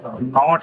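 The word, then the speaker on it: knot: इसको हम पढ़ क्या रहे हैं? नॉट पढ़ रहे हैं। तो इसमें के तो आ ही नहीं रहा।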